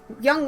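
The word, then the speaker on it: 영: same general meaning of young one which translates directly into korean as forever so in korean zero is pronounced young and then you have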